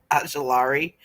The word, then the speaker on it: Ojulari: Ojulari? Yeah. Ajulari.